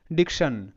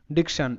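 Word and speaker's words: diction: এবার টি আই ও এন কিন্তু এটা প্যাটার্ন, ঠিক আছে, এটা প্যাটার্ন, ওয়ার্ড প্যাটার্ন, এটা শান উচ্চারণ হয়।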